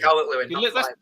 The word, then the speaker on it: Calvert-Lewin: Is it Calvert-Lewin? Calvert-Lewin. Yeah. Yeah, that's Right, Calvert-Lewin.